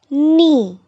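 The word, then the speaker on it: knee: word catch B part k n e e ni we do not pronounce it as G it's KN so letter K is silent in the word KN likewise in C part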